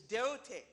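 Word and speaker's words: δεῦτε: Jesus' word to them in Greek is deote.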